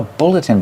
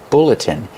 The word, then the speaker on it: bulletin: This is called a bulletin board. Pronunciation, bulletin. Use the short like look and book.